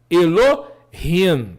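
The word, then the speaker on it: אֱלֹהִים: Por exemplo, aqui nós temos a expressão Elohim. Observe que não é Elohim. O H, o Re, não é mudo. Ele tem uma gutural leve. Elohim.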